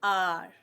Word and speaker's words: hour: H is silent here. Okay, we do not pronounce it. It is just there. It is silent.